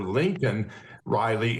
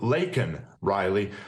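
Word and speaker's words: Laken Riley: him an illegal but then mispronounced her name and called her Lincoln Riley instead of Leen Riley so I mean he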